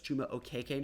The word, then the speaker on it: Chuma Okeke: from me today is Chuma is changing how he pronounces his last name to kind of fit more of his Nigerian descent. So it's Chuma Okeke now.